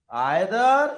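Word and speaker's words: either: Each, every, आइदर, या उसे इधर पढ़ते हैं जल्दी, आइदर नहीं इधर, और नाइदर को निदर।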